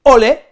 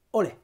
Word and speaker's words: olé: españolas y es que o le se puede pronunciar de dos maneras podemos decir o le podemos decir olé del mismo modo que